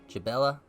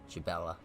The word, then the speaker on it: Jhebbal: a child of Bela it is the J silent chabela chabela I'm gonna go with chabela